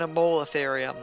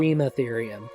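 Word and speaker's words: Eremotherium: Because I'm putting emphasis on the mo for some reason, which I shouldn't Okay. be. Erematherium.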